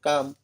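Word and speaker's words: calm: तो यहाँ देखिए एल है वो साइलेंट हो गया, काम, एल साइलेंट हो गया।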